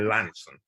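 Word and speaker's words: Launceston: farm's down in the southwest it's it's near lawnston or lansing they keep telling me i should pronounce it near lansing and um it's on the devon cornwall border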